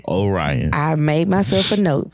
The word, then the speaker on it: Orion: It is Orion. Orion. I made myself a note so that we don't go back through this again. It was me. Too. It was me. I was the problem. Orion.